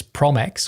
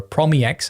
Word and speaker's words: PromEx: few but this is prom X or promex as I like to pronounce it because of that underscore and promx can you